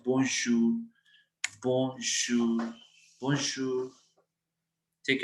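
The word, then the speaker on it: bonjour: अब देखो ओ एन की साउंड क्या है, ओ ओ, सो इट इज बों बों जूर जूर, जे ओ यू are means शूर, क्योंकि यहाँ पे भी ओजू है, ओजू मीन्स ऊ, तो लास्ट हमने आर प्रोनाउंस करना है, इट इज बोंशूर बोंशूर बोंशूर।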